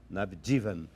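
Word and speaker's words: Navjivan: Ah, porque tem uma pronúncia é outra. É navdivan.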